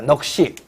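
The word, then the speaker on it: 넋이: 자, 이 부분 시옷은 그런데 대인설로 발음한다 라고 되어 있습니다. 넉시. 앉아.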